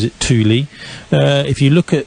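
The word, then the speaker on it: Thule: it's actually sorry I mispronounced it it's actually pronounced Tuli uh and in fact I think Torin pronounces it Tuli uh if you look at what the Tuli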